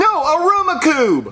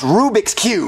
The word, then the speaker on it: Rubik's Cube: storm arumaku are you saying Rubik's Cube no Aruba Cube Jeffy it's pronounced Rubik's Cube no it's Aroma Cube Marvin you know what he means stop agitating